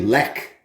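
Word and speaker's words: Lech: chevy but uh uh when it comes to polish beer it's silent instead it's a hard k so this one's actually lek is how you say that one now you look at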